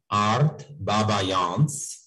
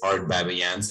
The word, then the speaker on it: Art Babayans: In Armenian it would be Art Baba, but in English it's Art Babayans and in French it's going to be Baba.